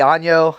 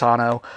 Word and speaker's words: Anno 1800: I've been comparing it to Uno a lot lately, but we always make fun of it and say it wrong. Anno 1800. We always say Anno. I know it's not. It's Anno.